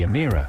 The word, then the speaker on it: Emira: The Emira, pronounced emira, will eventually be priced